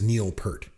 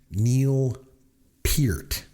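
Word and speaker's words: Neil Peart: The drummer from Rush was not Neil Per. It's pronounced Neil Pert, like ear with a P at the beginning and a T at the end.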